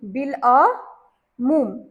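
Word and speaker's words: بالعموم: दोनों इकट्ठा लगाना है अलिफ की आवाज साइलेंट हो जाएगी और लाम की आवाज आएगी तो यहां पर अलिफ लाम एन मीम के साथ बड़ी ऊ की मात्रा और मीम बिल अ मूम ठीक अबुल कलाम बिल्कुल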